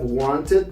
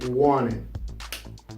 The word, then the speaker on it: wanted: When you see a word with the letter N, T, the letter T is not going to be pronounced.